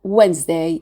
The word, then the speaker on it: Wednesday: We drop out the E letter and we pronounce the S as a Z sound. Wednesday.